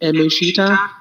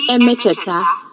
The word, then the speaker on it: Emecheta: For example, is that Buki Emechita, Buchi? Buchi. Buchi Emecheta.